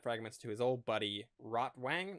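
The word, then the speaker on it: Rotwang: And so he takes the map fragments to his old buddy Rottw Wang, not Rotvang. I guess Rotvang would be the more accurate pronunciation.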